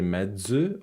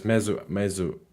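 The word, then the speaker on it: mező: maybe I'm mispronouncing it did I say Med zoo or meds mezu mezu because mezu is the word that I meant let me just spell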